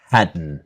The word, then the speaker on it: hadn't: So the same N of wasn't, weren't, hadn't. The T is silent, okay?